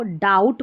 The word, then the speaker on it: doubt: और इसको डाउट पढ़ते हैं। ठीक है? यहां पर भी बी साइलेंट है।